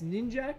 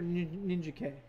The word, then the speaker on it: Ninjak: I don't know if it's Ninjak or Ninja K. Everyone I've talked to said Ninjak. I've always pronounced it Ninjak, but technically there was a Ninja A, a Ninja B, Ninjab.